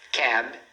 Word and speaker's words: cab: Cab. Cab, tá vendo? Então, é uma palavra de uma sílaba, cab e não cab.